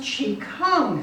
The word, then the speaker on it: Qigong: It's pronounced Qigong.